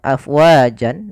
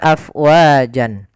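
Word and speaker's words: أفواجا: Awalnya dia adalah panjang afwajan Maaf awalnya tanwin karena berada di akhir bacaan maka dinaman dengan mad Iwat kalau dia wakaf maka berubah menjadi panjang sebagaimana madii afwaja afwaja Ya bukan afwajan kita coba ulang waritanasa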